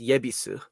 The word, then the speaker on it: Ebisu: Well, ebisu is sometimes pronounced yebisu.